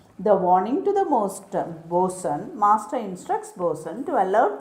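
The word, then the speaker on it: boatswain: called the master and then comes bosun the spelling is b-o-a-t-s-w-a-i-n but pronunciation is boson he's a subordinate officer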